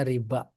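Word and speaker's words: ربا: Itulah babur riba. H. Coba Pak di catatan kaki ada enggak sebelum masuk? Oh tuh babu riba tuh bikasr ro maksuron. Oh benar bacanya riba.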